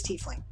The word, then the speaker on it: tiefling: divided over i believe i read somewhere that it was tiefling but i think i pronounced it tiefling at first that is what it should be doing by the laws of english but apparently it is t fling sorry right anyway